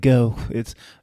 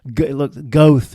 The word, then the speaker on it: Goethe: looks like it's, I don't know how to pronounce it. It's like Goethe. Goethe is what it looks like.